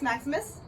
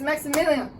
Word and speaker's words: Maximilian: queen what comes next Maximus my name is Maximilian say my name wrong one more time and you go to